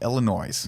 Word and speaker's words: Illinois: Illinois.